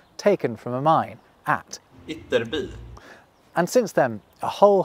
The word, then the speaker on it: Ytterby: How's it pronounced? Ytterby. And again for me. Ytterby.